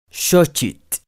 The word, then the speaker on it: Xochitl: En náhuatl, la X únicamente representa el sonido sh. Xochitl, flor.